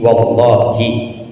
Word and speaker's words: wallahi: Tapi kalau wawu sumpah bacanya harus hi, wallahi, demi Allah, billahi.